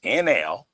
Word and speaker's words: Enlil: But the real names of these people that they called Jehovah, which is Enel, who played Jehovah, but sent his son to go talk to Moses, that was Ninurta, Ninurta.